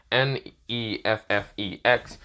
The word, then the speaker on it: Neffex: He's hearing the song from mostly Netflix, the creator, mostly that's how you say it, Neffex, mostly the song called Go, with the quotation mark in the end, but yeah.